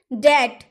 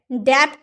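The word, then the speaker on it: debt: दैट डेप्ट नहीं दैट यानी कि ऋण डाउट डाउट बोलते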